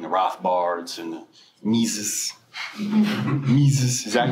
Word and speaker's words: Mises: Mises, is that how you say it? Yeah. Mises.